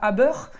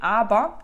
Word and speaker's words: Aber: alors à bord comme met d'ailleurs qui se prononce pas à beurre mais abah abah klaauw peut donc c'est tout ce qui